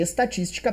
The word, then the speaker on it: estatística: Estatística, antepenúltima é mais forte, proparoxítona real.